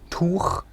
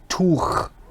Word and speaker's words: Tuch: You really have to go for this sound of throat cleaning that a lot of people do in the morning, okay?